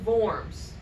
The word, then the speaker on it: Worms: he gives him safe conduct to go to forms it's spelled worms but it's pronounced worms I think